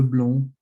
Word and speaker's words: blond: You don't really pronounce the D in the masculine form of blonde, le blond, but then the E here in the feminine form, you'd pronounce it la blonde, so blonde. Then you have le brun and la brune.